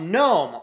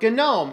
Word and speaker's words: GNOME: Today we're going to continue our discussion on desktop environments, and we're going to talk about Gnome, or Gnome, as you might hear it said.